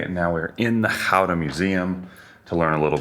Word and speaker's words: Gouda: I will say one of the most important things, especially you American viewers, it's Gouda, roughly. Sorry, Dutch viewers. Americans say Gouda. It's not Gouda.